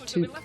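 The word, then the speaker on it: Took: What we what we discovered when we discovered that the uh proper pronunciation is toque I did a little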